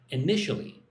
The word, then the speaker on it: initially: I nit four syllables but the initial Yeah. Put the emphasis on the second syllable. One, two. N initially.